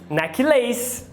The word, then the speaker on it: necklace: Aí vai falar colar, necklace. Mas não é. Como a gente fala necklace? A primeira é a tônica, neck. E a segunda é átona.